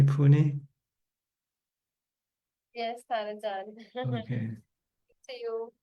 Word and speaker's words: Pune: Nita and Saget from Pune, India. Am I pronouncing correctly? Pune.